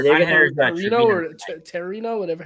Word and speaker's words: Trevino: Here, they're going to have Trevino or Terino, whatever, how do you pronounce it? Trevino.